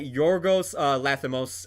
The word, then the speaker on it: Yorgos Lanthimos: Directed by Yorgos Lanthimos. I might mispronounce his name there. Steve, correct me if I am. That's how you pronounce it.